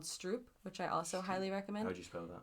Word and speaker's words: stroop: interesting point that came from a documentary called Stroop which I also highly recommend how you spell that s r o o p okay it's